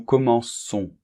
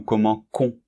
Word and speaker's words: commençons: Nous commençons. Bien, c'est normal, parce que sinon, on prononcerait nous commençons. Et ça n'irait pas, il serait irrégulier au niveau de la prononciation.